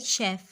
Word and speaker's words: chef: अच्छा, spelling is CHEF बट इट is pronounce like शेफ़.